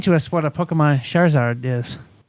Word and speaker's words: Charizard: So, number three, help me out with the pronunciation here, Eric. Um Pokemon Charizard Charizard? Charizard? Charizard.